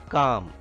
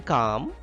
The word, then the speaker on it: calm: silent in these words calm him subtle reign in calm can you tell me which letter is silent that is l l is silent and calm him in